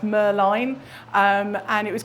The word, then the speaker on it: Merlin: And yes, it should really be pronounced Merline.